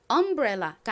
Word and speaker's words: umbrella: 그리고이 단어의 가장 큰 강세는 앞부분이 아니라 뒷부분 부분에 있습니다. 그래서 umbrella가 아니라 umbrella umbrella 이렇게 뒷부분을 강조해서 발음해 주셔야 됩니다.